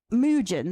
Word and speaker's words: Mujin: Mujin, that's the right word, how you say it, but I had his document somewhere here.